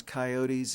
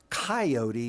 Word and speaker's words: coyote: roughing it in 1873 basically told us how to pronounce it that it was a three syllable name it was coyote although he was already translating it into coyote rather than coyote and